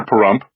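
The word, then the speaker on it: Pahrump: Picture Parump rhymes with dump as was left on the road if a buzzard ate Las Vegas and spit out the bad parts.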